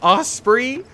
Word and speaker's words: osprey: And I was just like, I think it's Osprey, like the bird.